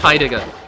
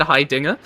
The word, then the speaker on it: Heidegger: On topic of arcane, I was in class today, and we're talking about Heidegger. And I straight up said Heidegger's name wrong. I said Heidinger, and the lady next